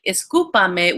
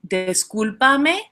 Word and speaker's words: discúlpame: Because I used to say "escúpame," which means to spit. So I was asking, please spit me. Um, so yeah, so say discúlpame, disculpar. Don't say escúpame.